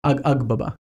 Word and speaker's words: Agbaba: Pronounce the G pretty much. Agbaba? Agbaba. Agbaba. It is a G.